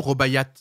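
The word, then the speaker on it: Rubaiyat: que c'est Rob ou robayat ça se prononce pas le thé il est il est muet robaya il y a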